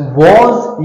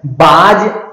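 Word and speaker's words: was: देखिए इसका rule, subject plus वॉज या वर, वॉज या वर। देखिए, इनका प्रोनाउंसिएशन ठीक से करना है, बाज और वेयर नहीं, बाज और वेयर नहीं।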